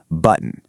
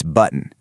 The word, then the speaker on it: button: And finally, button. You do not pronounce that heavy O. It's button. You actually do this subtle little stop right in the back of your throat.